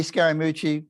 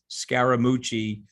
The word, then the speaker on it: Scaramucci: was a pejorative but that's the third syllable on my last name and I had a